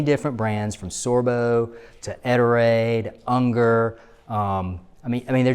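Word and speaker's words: Ettore: Some people call it Etor, whatever. The company pronounces it Eterade.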